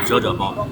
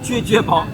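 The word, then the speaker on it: 啫啫煲: 叫撅撅包。这个撅撅啥意思呢？就是模拟这个声音，因为这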